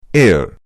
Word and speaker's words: heir: इसी प्रकार अ एयर, HEIR, ये भी गलत है, क्योंकि जब हम